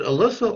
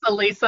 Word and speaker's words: Elisa: Is it Alyssa or Elisa? It's Elisa, although at this point I've heard it pronounced so many different ways, I'm not sure I'm saying it correctly.